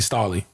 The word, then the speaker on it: Stalley: drop the album though his name is definitely star Lee oh so I was right I was calling Staley attention back there can